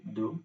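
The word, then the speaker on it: deux: Do. Uh, Uh, the. it's the only, but once you start speaking, you just circle your mouth and say do becomes heavy.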